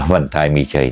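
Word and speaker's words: บันทายมีชัย: อ่า บรท มิชัย นะ หลวง พ่อ ไม่ รู้ อ่าน ถูก หรือ เปล่า นะ อ่าน ว่า บันทาย มีชัย นี่ นะ ของ เขมร หรือ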